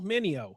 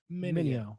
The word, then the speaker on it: Mineo: He had another fellow rapper on his Anomaly album, Andy Mineo. Say it with me. Sal Mineo. No, Mineo. Yeah. Say it with me. Okay. Mineo.